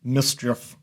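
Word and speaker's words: MSCHF: I think it's pronounced Mischief, M-S-C-H-F.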